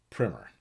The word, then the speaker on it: primer: and functioned and sidenote that word Primmer it's spelled primer but what are you talking about an introductory text something introduces a topic you pronounce it primer why because English is weird paint primer book primer it's just the way it goes now on to the stories